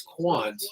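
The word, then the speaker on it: Quandt: my last name is Quant and the D is silent so I always get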